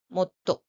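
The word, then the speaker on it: もっと: So the pronunciation given for the small size su is it. So the word is read as motto.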